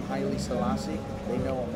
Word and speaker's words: Haile Selassie: I could never pronounce the name correctly. Haile Selassie.